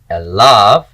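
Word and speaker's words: עָלָיו: And the accent is on the syllable lav, elav, and this is open and pretonic.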